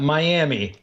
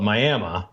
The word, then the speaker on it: Miami: is phonetically yes and spelled it is Miami it is identical to the city in Florida yet for some reason here we call it Miami yeah Miami Oklahoma yeah